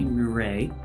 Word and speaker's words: Mure: our special guest here Joey muray Raj with puree so thank you for